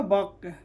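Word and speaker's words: walk: डब्ल्यू ए एल के क्या होगा, बक।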